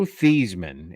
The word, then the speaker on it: Theismann: And for everyone on the show that doesn't recognize, Joe Thiesman is how you pronounce his name. Yeah. He changed his name in college to Theismann so it would rhyme with Heisman because he is a loser.